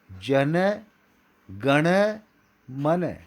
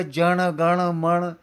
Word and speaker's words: जन गण मन: दोनों आजू बाजू न न है, आप ध्यान दे रहे हैं, और बीच में ऋण है, अर्थात इसका उच्चारण होगा जन गण मन। यह है सही उच्चारण।